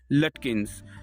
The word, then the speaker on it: Lutkins: Oliver लटकिंस या लुटकिंस इसको कह सकते हैं, लेकिन आप स्पेलिंग्स याद रखेंगे, LUTKINS, जैसा कि आप स्क्रीन पे देख रहे हैं।